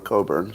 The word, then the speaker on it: Cockburn: Her grandfather was Claude Cockburn, who wrote Beat the Devil, under a pseudonym, so he didn't use his real name, Claude Cockburn, or Coburn, some people would pronounce it.